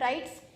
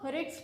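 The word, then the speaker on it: writs: It will not pronounced as राइट्स, इसको राइट्स नहीं pronounce करेंगे, इसको रिट्स प्रोनाउंस करेंगे।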